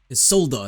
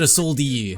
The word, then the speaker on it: Isolda: Isolda, that's how you say her name. I was close. I said Isoldi.